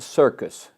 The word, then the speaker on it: Cierkes: His name was Vincent Circus, not spelled like circus show, but Cierkes.